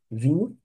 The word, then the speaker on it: vin: Então, eu gostaria de tomar vinho tinto, tá? Vinho tinto, olha aí, hein? Não é qualquer vinho. Então, je voudrais prendre un vin, lembra da pronúncia aberta?